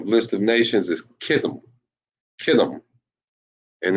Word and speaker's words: Kittim: This is how Italy is pronounced in the Hebrew. Uh-oh. There we go. Kathayam. Kathayam. That's Italy. Kathayam. Known as Kittim in the Bible.